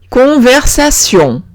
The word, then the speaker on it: conversation: Ahora, si veo una T-I-O-N, se pronuncia sion. Sion. Como si la T fuese una S. ¿D'accord? Exemple, conversation.